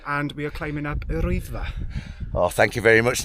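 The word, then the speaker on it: Yr Wyddfa: Hi, my name is and we are climbing up Rwyddfa. Oh, thank you very much. Now that's how it's supposed to sound.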